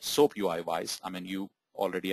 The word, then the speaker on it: SoapUI: even pronounce that uh soapui right some of you might be saying soap po or soap whatever right so it is soap UI as an uh soap